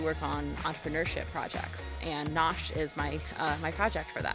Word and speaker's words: Nosh: No, just Nosh is fine.